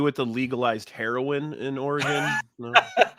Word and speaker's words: Oregon: He goes, "Just so you're aware, it's pronounced Oregon." I'm like, "Yeah, that's what I've been saying." He's like, "Yeah, just don't be an idiot and say Oregon.